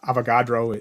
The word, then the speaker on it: Avogadro: Avogadro, I think, is the pronunciation of it.